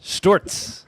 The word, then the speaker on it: Sztorc: Live with Stoz. Stewarts is the correct pronunciation.